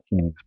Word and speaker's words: Heaney's: Now you have no excuse if you like poetry to read some Heaney's poetry. That's how you pronounce his name.